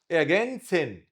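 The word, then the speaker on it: ergänzen: اجنسن هنا وراه ساكن كده مش موجوده، عين صغيره.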